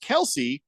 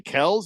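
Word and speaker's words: Kelce: And they asked him why he had them thinking it was pronounced Kelsey for the first 25 years of their lives. And Ed was just like, he's like, "I got tired of correcting people." So we just went with Kelsey. I'm like, F it. Who cares? And so then the boys said, "Well, should we go back to Kells?"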